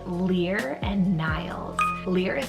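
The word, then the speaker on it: Lir: Those are the names Lear and Niles. Lear is spelled L-I-R, and then Niles, N-I-L-E-S.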